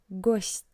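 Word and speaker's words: гость: For example, in the word ghost, which means guest, you can hear that t sounds soft. Not t but ghost, not but.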